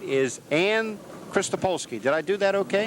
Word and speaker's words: Krystolpolski: To my immediate right is Krystolpolski. Did I do that okay? Right.